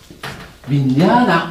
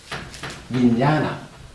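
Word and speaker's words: viññāṇa: 요거 뭐 이제 번역하는 과정에서 아르마리 이렇게 이제 많이 번역하고 있는데, 요것은 윈냐나 이렇게 읽어요. 요건 발음이 조금 어려워요. 윈냐나.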